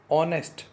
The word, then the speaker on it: honest: Now you can see here this honest, h is a consonant, but while we are pronouncing it we get the sound of o.